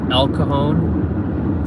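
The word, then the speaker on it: El Cajon: my soul brother lives and he lives in elcone so that's spelled e l and then kahone is uh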